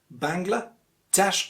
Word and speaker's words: Bangladesh: the second syllable bangla but it's actually bangla dash or bangladesh let's move on and